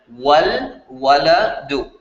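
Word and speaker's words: والولد: If we add a wa before that, how would we pronounce that word? Wal waladu. So the rule, this rule right here basically says that whenever you have alif lam and you have a vowel preceding it.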